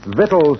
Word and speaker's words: vital: Vital statistics. That's pronounced vital, Junior, not victual.